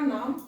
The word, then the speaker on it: नमः: इसका उच्चारण ह के रूप में लेते हैं, जैसे अतः, नमः इत्यादि। ह के अतः ह बोलते हैं, नमः ह।